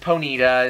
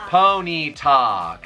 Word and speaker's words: Ponyta: how mom said yeah she said ponita that's not how you say it ha guys how do you say that name pony talk okay so that's close i'll accept that well i just thought